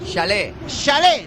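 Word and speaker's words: Jallet: Ahora me tendrás que decir, Alfonso, J-A-L-E-T, ¿cómo se pronuncia? Chalet. Venga. J-A-L-T. Sí. Chalet.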